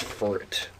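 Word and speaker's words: Furret: um my number five is fet um that's a rhyme with feret wow that's what I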